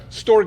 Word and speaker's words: storge: Storge. It both has a hard G.